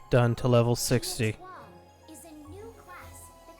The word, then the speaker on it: Etoile: The Etoile class will be Etoile. Okay, so that's how you pronounce it.